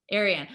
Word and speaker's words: Arie Anne: Ariana? Ariane. Arie It, Anne. What is it? it's What is Arie Anne. Arie Anne.